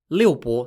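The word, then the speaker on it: liubo: a more ancient chinese game called lil bo lil bo spelt l-i-u-b-o lilbo was a mysterious ancient chinese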